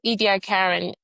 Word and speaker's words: Ediacaran: Do you um how do you think Edi Karen Am I saying it right?